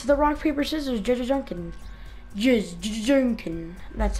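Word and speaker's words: Jajanken: Jujunkin.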